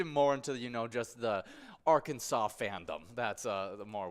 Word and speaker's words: Arkansas: River very cool apparently Arkansas got its name from French settlers in the region the word Arkansas is pronounced with the silent S at the end interestingly it is against